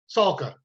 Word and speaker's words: Salka: Salka.